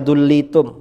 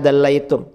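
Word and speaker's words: دَلَّيْتُمْ: Lau annakum dallaitum ahadakum bihablin ilal ardis sabi'ati lahabitu 'ala Allah tabaraka wa ta'ala. Seandainya kalian menurunkan, ini si Wahabi tadi bacanya dullitum, mestinya dallaitum.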